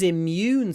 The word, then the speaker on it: immune: working properly IM immune so on this occasion in Russian it's an and in English it's a u we do need a m IM IM immune not immune immune make sure you get the Yun immune system vitamins can boost